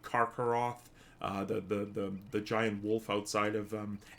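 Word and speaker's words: Karcharoth: Actually, it would be Barakin, because a CH in Tolkien is always pronounced as a K, like Karkaroth, the giant wolf outside of Angband, the original Morgoth's fortress.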